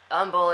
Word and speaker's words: Humble: so what's it called Umble um Umble Texas uh ah okay um wait did you say the H is silent is that true really